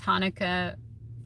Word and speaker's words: Hanukkah: Because Hanukkah rhymes with marijuana.